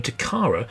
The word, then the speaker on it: Takara: The Takara motto was "Playing is culture," and the name Takara is a girl's name of Japanese origin, meaning treasure or jewel.